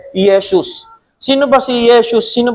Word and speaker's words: Yesus: we mean by Jesus or Yeshus in Greek there's no such thing as letter J letter J um consonant in Greek. It is spelled as I e S o Yesus.